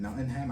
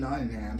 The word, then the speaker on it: Nottingham: Nottingham, I think I'm pronouncing it right. Like Tottenham, like the place in London.